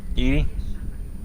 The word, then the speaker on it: EDI: Why are you named Your Edie? name. EDI is the phonetic pronunciation of EDI.